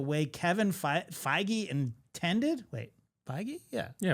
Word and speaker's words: Feige: Wait, Feige.